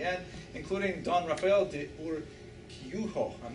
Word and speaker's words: Urquijo: She was engaged to him, how do you pronounce that? Urquijo. Urquijo. That sounds so good.